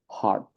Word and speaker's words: heart: the first one it should um should be pronounced H and the second heart I hope you guys notice the difference so